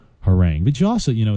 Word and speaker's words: harangue: to our next word which is whoring it is spelled har a and gue her rank it's a noun har a and gu e or rank but you also you